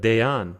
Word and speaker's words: Dayan: And if you're having trouble pronouncing that, it's like day off, but Dayan. There we go, easy.